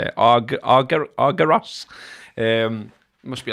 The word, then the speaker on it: Argyros: That's how you say it, Argyros.